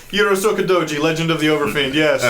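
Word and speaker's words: Urotsukidōji: Yuro Sokodoji, Legend of the Overfiend. Yes, you Okay. have. You did. Okay. Yuro Sokodoji.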